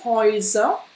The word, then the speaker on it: Häuser: Et die Häuser, quand c'est donc au pluriel, on a ici le Oi. Häuser. Häuser. Die Häuser. Et puis on l'a aussi dans träumen. Träumen. Donc là, Oi, Oi. Donc tu vois, c'est un son double.